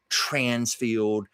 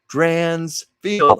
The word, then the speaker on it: Drainsfield: You know, I have to do that whole thing because people want to make it Drainsfield, Transfield, Grantsfield. I'm going, "No, Drainsfield. I'll spell it for you."